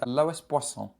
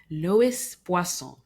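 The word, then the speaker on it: Loïs Boisson: I believe it's pronounced Lois Bon. Lois Buon. There we go.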